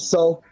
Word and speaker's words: Sol: Soldier Campbell. Say his name right, man. Soldier Campbell. That's Do you know what? Tough, I'm you know. going with Sol.